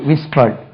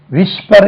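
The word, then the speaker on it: whisper: ஆர் ஐ என் ஜி இதை வந்து விஷர் என்று உச்சரிக்க கூடாது இது நாங்க படிக்கும்போதெல்லாம் விஸ்பர் விஸ்பர் என்று உச்சரிப்போம் ஏன்னா அது எச்சும் எஸ்ும் அங்க பக்கத்துல தள்ளினா அது விஸ்பர் தான் விஸ்பர் விஸ்பர் விஸ்பர்ட் விஸ்பரிங்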